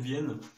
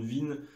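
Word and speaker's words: Wien: avec le pont de Vienne enfin de non ça se dit vin ça s'écrit W I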